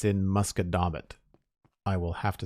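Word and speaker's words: Musquodoboit: granite ridge pike in nova scotia it's in muskedomit i will have to spell that for you uh it's m u s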